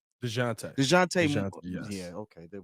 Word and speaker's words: Dejounte: Plus so Dejounte, how do you pronounce that man's name? Dejounte.